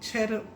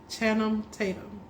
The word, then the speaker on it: Channing Tatum: Chatham. I still want to say his name because I want to get it right. Channing Tatum.